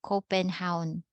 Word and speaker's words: Copenhagen: pronounce this correctly or when you hear this native people their residents there they pronounce this as copenhound copenhound so what happened